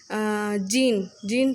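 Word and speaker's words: djinn: देखो यहाँ दी जीन का प्रोनाउंसिएशन के बारे में लिखा हुआ है. जीन प्रोनाउंस करेंगे हम इसके.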